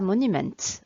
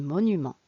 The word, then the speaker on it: monuments: culture culture et monuments on ne prononce pas monumenta en français on dit monuments et bien moi personnellement